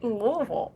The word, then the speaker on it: Louisville: And um I was in not Louisville, I was in Lexington of all places. My hometown is Louisville, Kentucky. Is it Louisville or Louisville? Louisville.